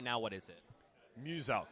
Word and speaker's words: Muselk: Muselk. So it's like Muse and Elk. Muselk.